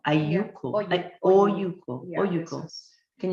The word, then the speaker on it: olluco: Oyuko. Ayuko. Yeah. Oyuko. Yeah, Oyuko. Can you spell it for us? It's OLLUCO. Double L is pronounced with a Y, right?